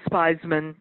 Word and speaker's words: Spizman: of course it's Theismann comm and is with a why why I that's when buzz the wanted a spell its spies men rhymes with Wiseman but no es Piz